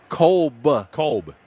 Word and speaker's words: Kolb: Do you think, What'd you call Cobb, right? Jeff Kolb. Cobb? I mean, Kolb. Okay, well, Kevin Cobb, the former quarterback, pronounced it Cobb. So is it Cobb or Kolb? Kolb.